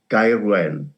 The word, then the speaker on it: Gaerwen: Various permutations have been tried. As a South Walian, I would call it Gaerwen.